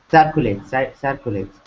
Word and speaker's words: circulate: He circulates, maybe like circulates. That's Who? Who? uh, Who's that? Circulate, circulate, circulate. circulate, Yeah, circulate. Ah, middle syllable stress. Circulate. No, wait. circulate. Circulate. Ah, no. I'm sorry. First syllable stress. Circulate.